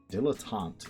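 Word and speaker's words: dilettante: Dilotant is how that Google said to pronounce it.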